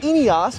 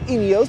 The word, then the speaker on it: Ineos: Well, a British company called Ineos, or Ineos, depending on how you pronounced it, actually went ahead and built a